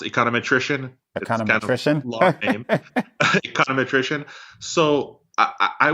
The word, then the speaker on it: econometrician: think I've talked a ton of economists and econometrics ist's if that's the right word how's the transition been from econometrics to data science yeah great question so it's official it's pronounced econometrician at random attrition so I would say and